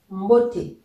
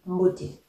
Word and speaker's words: mboté: Et donc, le E ici, accentué, il faut le lire comme dans écrire.